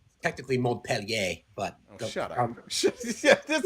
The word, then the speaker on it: Montpellier: We're also wondering why both Jesus and Julie think it's Montpelier. We were also, I think that you guys must be saying it wrong and spelling it wrong because Jesus wouldn't get it wrong. Technically Montpellier, but shut up.